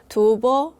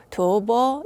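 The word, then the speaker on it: 吐蕃: 중국어로는 두버 이렇게 발음이 됩니다. 두버 이렇게 발음이 되니까 티베트하고 어 뭔가 발음상으로는 비슷해집니다.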